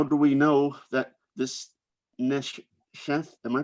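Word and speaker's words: נשף: And how do we know that this neshef, am I pronouncing that correctly?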